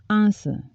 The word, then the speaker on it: answer: from Steel on nylon silent w answer answer the teacher couldn't